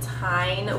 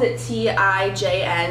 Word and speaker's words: TIJN: So I have some items from the brand TIJN, which is spelled T-I-J-N, and I believe it's pronounced TIJN, but they